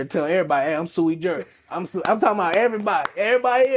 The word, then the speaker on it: sui juris: It's sui juris.